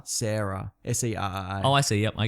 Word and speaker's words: Serra: Or Sarah. Serra. Oh, I see. Yep, I get it. Yeah. I often look up pronunciations for videos because that's another thing that people are like, that's not how it's said.